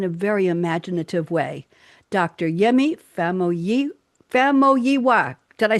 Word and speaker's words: Yemi Famuyiwa: Yemi Famuyiwa.